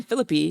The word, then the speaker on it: Philippe: Yes, because Ryan Philippe, which I find out is the correct way to say his name, uh Ryan Philippy was in it and